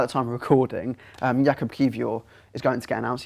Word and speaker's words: Kiwior: And also, it looks like today or tomorrow, at the time of recording, Jakub Kiwior is going to get announced. I got the pronunciation spot on.